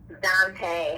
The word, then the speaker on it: Dantee: This episode actually features Dantee. Is that how I pronounce it? Dantee? Dantee.